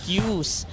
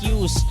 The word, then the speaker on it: queues: be corrected on that ang tama pong pronunciation n ito ay traffic cues or vehicle cues Saan ba madalas may